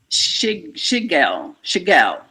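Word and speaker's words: shogaol: When it's dried or cooked, the bioactive compound now is called, shigel. That's how you pronounce that.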